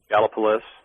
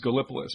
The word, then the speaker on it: Gallipolis: right near point pleasant how do the natives mention that uh pronounce that town's name gallipolis okay i always thought it was gallipolis but okay one of